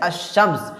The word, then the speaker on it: الشمس: اوپر تشدید ہوتی ہے۔ جیسے کہ الشمس، یہاں پر شین سے پہلے الف اور لام استعمال ہوا ہے، لیکن یہاں پر لام کا تلفظ نہیں ہو رہا ہے، لام کو ہم لوگ نہیں پڑھتے۔ جیسے الشمس، الف کو پڑھ رہے ہیں، ڈائریکٹ شین کو پڑھ